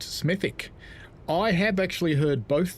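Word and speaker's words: Smethwick: Production says, "Just for the record, the W is silent. Smithic." I have actually heard both though from locals smithic and smithwick.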